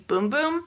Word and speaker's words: Bum Bum: cream on here but it's actually pronounced in Portuguese boom boom I think but anyway